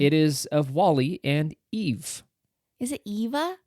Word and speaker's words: EVE: it came and it is of Wall-E and Eve is it Eva it's eve he says Eva oh but he's mispronouncing it you know on oh wow I've